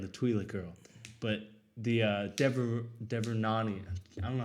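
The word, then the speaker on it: Devaronian: Because I get he spared Bill Burr and the Twi'lek girl, but the Devernani, I don't know how to say it. I thought it was a Deveroni. Devilorian. There's no L in it, but he I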